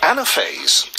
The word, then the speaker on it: Anaphase: starting her own company anaphase yes that's the right way of pronouncing it that's right yeah all